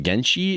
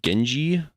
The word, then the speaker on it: Genji: I remember playing I'm going to say his name wrong. Genshi. Is it the sword dude? Is it Genshi? Uh, Overwatch. Gen Gen Genji.